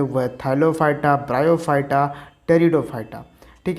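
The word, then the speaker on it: Pteridophyta: ये याद रखिएगा, ये टेरिडोफाइटा, पी से इसका स्पेलिंग स्टार्ट होता है।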